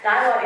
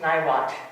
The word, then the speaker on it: Niwot: Niwot is the Arapaho word for left hand. It means left hand. However, let me tell you, it is not pronounced Niwot in Arapaho. It is pronounced something like Niwot.